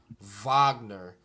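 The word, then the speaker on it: Wagner: coach says it's pronounced Vagner yeah V I mean is pronounced more like a V uhhuh like Volks yeah right salute to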